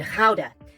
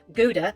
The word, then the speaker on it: Gouda: Well, I'm quite partial to the Dutch cheeses, particularly Edam and Gouda. Outside of the Netherlands, the latter is often pronounced Gouda or Gouda, because why say things properly?